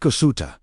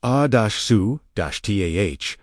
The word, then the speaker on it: Asuta: Speak Asuta. Pronounced ah-soo-tah, not as a request